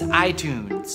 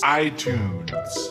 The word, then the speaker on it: iTunes: It's iTunes. iTunes.